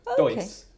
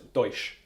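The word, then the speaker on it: dois: So I'd go Deutsch. No, but it's not. It's Deutsch, because their S's are pronounced with a sh.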